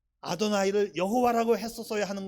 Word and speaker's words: 아도나이: 네가 왜 읽으려고 하느냐요 단어는 뭐라고 읽어야 된다 아도나이 아고 바꿔서 읽어야 되는 거예요 하나님의 이름이 거룩하기